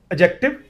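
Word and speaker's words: adjective: ना एडजेक्टिव बोलता है आम तौर पे डी साइलेंट है उसमें एडजेक्टिव बोलना है उसके अंदर कुछ टीचर्स इसको एडजेक्टिव भी बोलते हैं वो भी चल जाता है बट डी नहीं बोलना साथ डी नहीं बोलना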